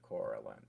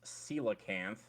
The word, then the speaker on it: coelacanth: It's a coalinth. This is a coalinth. Like the fish. First of all, it's pronounced coelacanth.